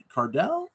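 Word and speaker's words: Cardille: right too uh yeah Lori card Cardell Cardel I believe is how it's pronounced her father was a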